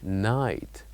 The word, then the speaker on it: night: we say that here we write G and H but we don't say them they are silent the word will be night night and the third